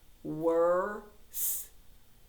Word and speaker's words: were: were in worms okay the e is silent were worse worse right now